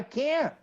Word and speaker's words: can't: that is its affirmative when he says I can't do it many times you don't listen to can the tea is not even pronounce it but it's the stress like I can't do it that's the only difference if you google it